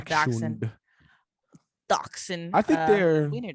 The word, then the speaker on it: Dachshund: It's spelled Dachshund, but it's a Dachshund.